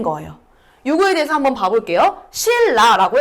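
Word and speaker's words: 신라: 실라라고 했을 때 요 니은이 뒤에 리을의 영향을 받아서 뭐가 된다? 실라가 된다.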